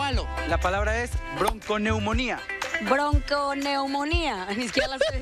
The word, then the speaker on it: bronconeumonía: Bronconeumonía, señor. Bronconeumonía, BRONCONEUMONIA, acento en la I última, bronconeumonía.